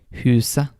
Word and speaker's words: huset: When you see the letters ET in Norwegian, the T may be silent. And some examples of that are huset, det, uke.